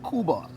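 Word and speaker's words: Kuba: The album is entitled Cuba. It's spelled K-U-B-A.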